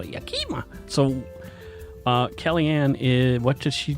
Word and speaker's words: Yakima: That's not how you pronounce it. It's Yakima, not Yakima.